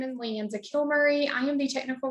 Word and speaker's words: Leanza: So Leanza, did I pronounce that correctly?